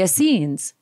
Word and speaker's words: Essenes: They were the Essenes. So I'm going to pronounce this correctly.